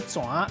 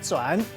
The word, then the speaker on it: 泉: 今仔日小解这一日读作泉，这是白音，另外文音读作全，提供给观众朋友来参考。